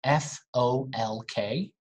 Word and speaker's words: folk: and next we have the l in these words i actually shared a video on instagram too right talk walk half could should would what else folk music right f o l k folk music no l